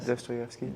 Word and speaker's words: Dostoevsky: So from time to time, people, especially the Dostoevsky translation, sometime on there, it's like foreign languages. Me and Ethan's read some Dostoevsky. Am I saying it right, Ethan? Dostoevsky.